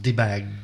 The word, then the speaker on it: Debag: His name is pronounced Debag, Debag.